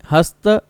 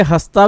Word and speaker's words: हस्त: पूर्व फाल्गुनी उत्तर फाल्गुनी हस्त चित्रित ये हस्ता भी बोलते हैं हस्त भी बोलते